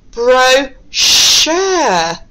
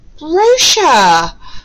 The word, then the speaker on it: brochure: So we're pronouncing the CH sound today as shh, okay?